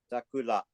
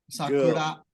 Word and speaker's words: Sakura: How do you pronounce number 7? Sakura. Sakura.